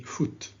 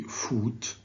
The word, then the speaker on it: foot: is carbon footprint please say foot don't say food say football say put wood okay so it's a